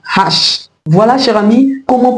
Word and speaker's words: hache: Ce mot également porte un H aspiré, donc nous n'allons pas élider l'article devant ce mot, nous allons tout simplement dire la hache. La hache.